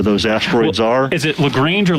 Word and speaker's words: Lagrange: you're from it could be a different different pronunciation you know daryl reminds me all the time it's lagrange but if you're from the south it's probably